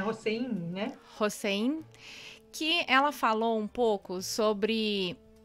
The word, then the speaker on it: Hossein: Eu li em um texto da Ziba Mir Hossein, é assim que se pronuncia? É Hossein, né?